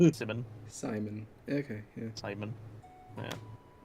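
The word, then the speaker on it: Symin: it might be but his name is spelled it's like s y m i n Simon Simon okay yeah Simon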